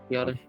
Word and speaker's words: Biadasz: Biadasz, I think is how you pronounce it. Biadasz.